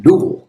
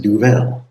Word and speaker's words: Duvel: and make sure that I was pronouncing duel correctly before I made this video because you might be tempted to pronounce it duvet and that's not correct or double or whatever.